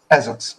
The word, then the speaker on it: Esox: I definitely want to get into How do you pronounce it? Is it Esox? Esox.